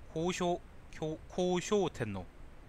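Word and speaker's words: 孝昭天皇: 효소천왕 관송 언향 식도천왕 미마츠 히코 카웨 시네노 스메라미코토 효소천왕 코우쇼우텐노 효자를 코우라고 읽는구나.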